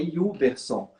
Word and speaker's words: Hubertson: O T é mudo. Então é Yuberson. Então, assim, é Yuberson.